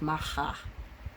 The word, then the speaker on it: Macha: Both are pronounced Macha.